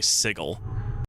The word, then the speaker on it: sigil: so I believe that the correct pronunciation of uh sigil is actually sigle um and from what